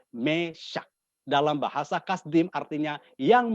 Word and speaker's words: Mesakh: Mesak dalam bahasa Aram atau Ibrani, bacanya juga Mesak.